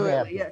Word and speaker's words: Vinho Verde: Vinho Verde, yeah. Not absolutely. Vinho Verde, right. Well, it would be that way if you were in Brazil. They would pronounce the H much more like a Y.